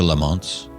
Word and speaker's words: Lamont: And the pace of change would pick up over the next few decades, affecting everyone on the island, including the Lamonts, Lamont in the Scottish pronunciation, the spirit seller man's family.